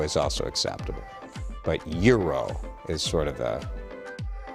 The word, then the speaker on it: gyro: I think the correct pronunciation is hero, like a hy sound, hero. But I think gyro is also acceptable. But euro is sort of I think the correct, more Greek-ish pronunciation.